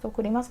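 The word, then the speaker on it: つくります: Tsukurimasu kan membuat ya, pakai o tadi. Diperhatikan kalau bilang tsukurimasu karena bahasa Jepang itu ada su dan tsu. Nah, yang ini tsu ya. TSU. Tsukurimasu, jangan jadi su bacanya, oke?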